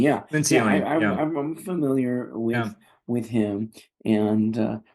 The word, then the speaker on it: Lencioni: And Patrick, how do you pronounce that guy's name? Patrick Lencioni. Lencioni, yeah. Lencioni.